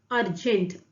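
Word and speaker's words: urgent: Next है अर्जेंट। अर्जेंट, देखिए अर्जेंट, pronounce पे फोकस करना है, मतलब साउंड पे फोकस करना है।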